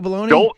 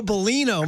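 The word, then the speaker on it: Bellino: Joe Baloney.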